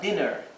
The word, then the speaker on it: dinner: una doble n dinner Cuando tenemos una doble consonante Recuerden que la vocal anterior se pronuncia con su pronunciación corta denner aquí tenemos una